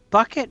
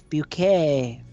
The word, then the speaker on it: Bucket: keeping up a pair appearances it's but it's bucket miss bucket no it's bouquet oh I'm from police Alabama that's just penis